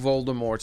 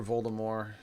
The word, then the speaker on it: Voldemort: As I know who Voldemort is, or Voldemort, depending on who you are. Like different people don't pronounce the T.